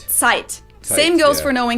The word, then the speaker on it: Zeit: z like z but the german set is a lot harsher it's actually pronounced like a ts so so this word is not pronounced or zeit but it's sight same goes for knowing